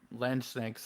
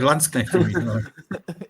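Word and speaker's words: Landsknechts: that both Han Sipple and bonavent were both L sanks I can't pronounce that word correctly for the life of me apologize yeah or landscap yeah there you go um so you could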